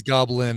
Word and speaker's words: Goblyne: Her name is Goblin, and it's spelled Goblyne. Like if her name was Lynn, she just added gob to the beginning, so she's Goblin, which I really loved.